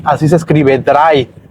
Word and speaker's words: drei: D-R-E-I, así se escribe, drei, pero se pronuncia como si fuera D-R-A-I.